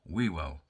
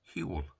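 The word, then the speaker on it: Whewell: So it's Hewell. I could go on about the silent first W, but nobody's that bothered.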